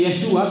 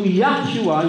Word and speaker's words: Yeshua: ng ating panginoong Hesus ang bigkas talaga ay yung sa Hebrew ano kasi Hebrew siya eh Ano kaya yahshua yun po ung mas closer ay yung Yeshua Pwede din ano yung yahshua yung YH kaya yun ang mas sinasabing